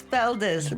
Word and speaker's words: Feldes: And It's Feldes, but I'm proud of my culture, my background. I'm a biracial Latina woman. So I love that. when my name changed to Feldes, which is a German name, by the way, Oh, wow.